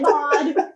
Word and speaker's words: Maud: Have you met Maud? Rhymes with Mog.